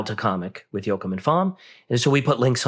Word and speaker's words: Pham: And, Koi Fom, he's a longtime artist that I'm partnered with on a host of different things. And that's spelled PHAM.